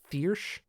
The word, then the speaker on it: Thyrsc: The name THYRSC is pronounced Thiersch.